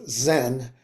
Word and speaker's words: Zen: Chan uh which when the Japanese brought Buddhism into from China Japan they pronounced Chan as Zen and that's where we